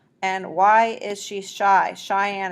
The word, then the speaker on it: Cheyenne: why is she shy cheyenne is actually spelled with a ch why is she shy